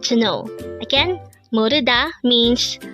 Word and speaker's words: 모르다: to not know or not to know again Moda means not to know how do we write